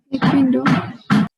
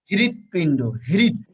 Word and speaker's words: হৃৎপিণ্ড: হৃৎপিণ্ড। হৃৎপিণ্ড। পিণ্ড। হৃৎপিণ্ড, কারণ আমি বলছি কি, যদি রিকার থাকে রিকারই হবে।